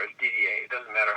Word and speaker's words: Didier: uh Elizabeth uh uh Ferguson DDA yeah we pronounce it DDA d d i e r as DDA doesn't matter how you write it down just